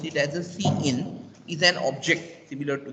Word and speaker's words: cin: The keyword cin pronounced as cin, as we have pronouncing cout, I pronounce it as a cin, is an object similar to this and predefined in the C++ corresponding in standard input stream.